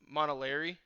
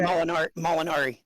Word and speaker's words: Molinari: Rick Montalari, is that how you say it? Okay. Molinari. Molinari. What's up?